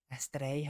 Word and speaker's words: Astrið: It looks like it's a D, but it's not. In our language, we have other letters. That one's called Ed. And it is silent when it's in the middle of a word. And at the end of a word, it kind of makes a bit of a Y sound.